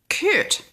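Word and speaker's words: chert: curt i don't know whether it's a ch shirt or curt with a silent um h so c-h-e-r-t curt is how i say it and it's kind of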